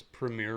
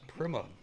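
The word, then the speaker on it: Prema: Honestly, I thought it was premier racing this whole time and Will Buxom was just pronouncing it like a European. Maybe that's true. It really is Primma.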